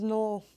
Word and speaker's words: Noel: My last name is null. Null. Yeah, it was null. Yeah, it's been it's been null. I've been Wait, no, but this is No, I've caught So, my home it's spelled N O E L.